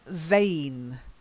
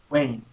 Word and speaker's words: vain: it's spongebob okay sponge there you go then vain vain Wayne not waving you've got to get the sound